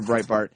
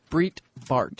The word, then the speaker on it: Breitbart: how you remember that's how you remember Andrew Breitbart what else we going to remember him for